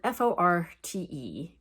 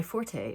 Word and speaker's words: forte: The pronunciation is fort, because the origin of the word is fort, like the building, meaning strength, and not forte, like Italian for loud in music.